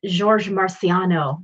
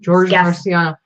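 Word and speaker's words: Georges Marciano: it's the I don't know how do you pronounce his name it's George Marciano George Marciano it's a size small they cut part of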